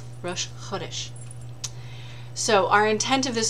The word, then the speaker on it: Rosh Chodesh: That one I've learned to say right. I've been corrected. Is Rosh Chodesh. Emphasis on the first syllable, the way you should say it. Rosh Chodesh.